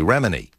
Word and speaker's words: Remini: of course, Tom Cruise and Leah, and I mispronounced her last name. It's actually Remini.